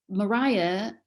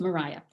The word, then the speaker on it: Maria: Maria was the pronunciation until after the Napoleonic Wars, when the English started traveling more on the continent and they were exposed to the Maria pronunciation then. But at this time, when Jane Austen is writing, it is Maria.